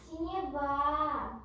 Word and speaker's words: синева: правильно прочитала но по правильное ударение поставь на второй слог на 3 синева синева Почему это слово